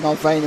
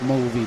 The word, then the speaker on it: Mulvey: That's Mulvey, by the way. Oh, right. Adding extra syllables to his name.